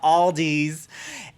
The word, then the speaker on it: Aldi: were like justin there's this new store called aldi's and i'm like what and they're like yes